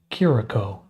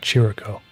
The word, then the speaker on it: Chirico: It's pronounced Kiriko. Okay. Not Chirico. Kiriko.